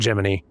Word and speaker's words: Gemini: Spelling that thing Gemini and pronouncing it Jiminy.